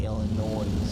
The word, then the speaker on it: Illinois: Illinois thank you Gino Illinois does not have a z on the end right but it's pronounced Illinois not Illinois but the wind